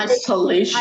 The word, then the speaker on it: isolation: And then I-S-O-L-A-T-I-O-N. Where is the stress given? Isolation. Isolation. So, Which syllable should be stressed?